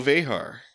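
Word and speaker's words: Vejar: Moore and directed by Michael Vehar. And I went and verified that pronunciation, so that is correct.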